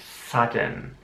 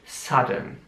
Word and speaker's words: sudden: Sudden. Wieder wird das U wie ein A ausgesprochen und das S sehr scharf wie ein SZ. Sudden.